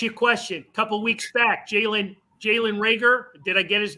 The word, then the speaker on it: Jalen Reagor: A couple weeks back, Jalen Reagor, did I get his name pronounced right?